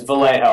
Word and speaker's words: Vallejo: out to eat it's it's always mispronounced but it's it's Vallejo I'm half Columbia oh